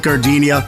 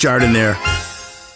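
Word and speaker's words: giardiniera: when you're at the counter don't call it gardinia it's pronounced jardan there hey everybody it's Pete shepher from the coastal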